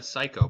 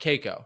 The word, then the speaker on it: Cayko: My last name is pronounced Psycho. It's no joke. So now nobody forgets who's listening to this show. They're like, oh, Psycho, but it's spelled Cayko. It's Cayko. All right. It's not Cayko.